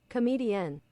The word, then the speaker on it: comedienne: Comedian. Oh, you just say it comedian.